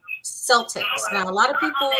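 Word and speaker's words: Celtx: look like you can use a program called Celtics now a lot of people they pronounce it differently but it's spelled something else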